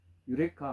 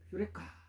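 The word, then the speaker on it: εὕρηκα: 예, 유레카. 우리는 유레카라고 알고 있는데 원래 원문대로 발음은 휴레카입니다. 찾았다 이런 뜻입니다. 휴레카.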